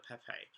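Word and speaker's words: Pépé: Finally pronounced it right, Nicola Pepe.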